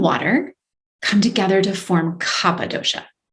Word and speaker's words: Kapha: come together to form kappa dosha spelled k-a-p-h-a looks like kapha but it's pronounced kappa so kappa is cold moist heavy